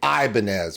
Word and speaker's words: Ibanez: in the United States the guitar we say Ibanez where we put this we put a hard I and that's the that's where the focus is on the hard Island Ibanez where he's saying